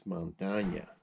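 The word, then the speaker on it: montaña: uh mispronounced is uh montana montana if you put the little line again over the end it's spanish and it's montagna montana means mountain that's why the state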